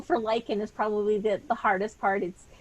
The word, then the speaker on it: Luiken: So it's just the spelling for Luiken is probably the hardest part. I pronounce it Luiken, but there's actually a silent U in there.